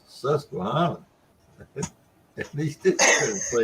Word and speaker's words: Susquehanna: a minute ago and and roger calls his saskatchewan let me help you with that pronunciation roger it's susquehanna at least you couldn't play it okay man